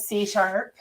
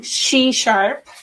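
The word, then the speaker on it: SheSharp: you so much c-sharp i have been pronouncing it c-sharp everywhere but i'm trying she-sharp and and yeah i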